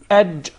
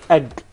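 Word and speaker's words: ج: Not ag. Yes. There is no gim in Arabic. It is aj. Aj. Aj. It seems like it comes from the middle of the mouth. Aj.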